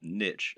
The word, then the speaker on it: niche: The reason we call it a niche, or niche as some people pronounce it, when talking about an online business, is that a niche is a particular category.